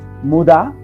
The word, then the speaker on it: Muda: Muda, Mura, Muri. You know, those are 3 words starting from mu, mu, mu.